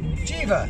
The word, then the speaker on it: Jiva: And not Java, but JIVA. JIVA.